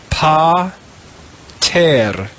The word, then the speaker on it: pater: pay and we'll begin pa terra put those syllables together and we have the latin word pater pater now you can put